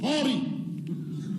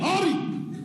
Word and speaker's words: Henri: Henri en alsacien se prononce Henri. Hey, Henri! Henri! Henri, hein? Un H très fort, un H aspiré, hein?